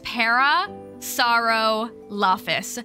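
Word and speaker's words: Parasaurolophus: I'm glad you're here an easy way to pronounce it is para sorrow Loftis para sorrow lafis thank you wait you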